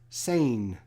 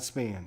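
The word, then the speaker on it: Sain: out here chinese man pronounce sane not span okay sane johnny sane sorry johnny's saying good thing somebody's here that knows i don't know anybody from 1953.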